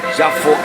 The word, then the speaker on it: Yafo: avenue of Jewish Jerusalem Yafo Street or Jaffa Street, depending on how you pronounce it, don't forget to